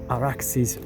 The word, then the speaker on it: Arax: by the Arax or Araxis river using the Persian Aadian Sumerian pronunciation. It's Arax but it's the derivation is much more ancient.